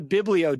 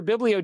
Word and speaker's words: Biblio: but I'm on the Biblio diet. And I said that just verbatim almost like I'm going to say something that kind of rhymes with Paleo, but sounds like Bible.